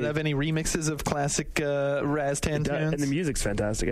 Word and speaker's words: Rastan: First of all, I call it Rastan. I don't know Rostan, like, where you get that from, but Rostan.